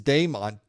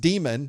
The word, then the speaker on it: daemon: You're pronouncing it demon. Okay, well, it's spelled daemon. And in fact, one alternative pronunciation of it is daemon. But in reality, that name, daemon, was originally pronounced demon. That's how we spelled demon back in the Old English. And that's why we call it demon, because it really is that.